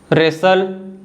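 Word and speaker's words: wrestle: है रिस्ट rake रंग तो आप देख सकते हो जब मैं इन सभी वर्ड्स को मैंने पढ़ा तो मैंने डब्लू को नहीं बोला देखिए जो डब्लू होता है ना यह कौन सा साउंड बनाता है व लेकिन जब मैंने इन वर्ड्स को पढ़ा तो मैंने डायरेक्टली र से पढ़ा ठीक है र जो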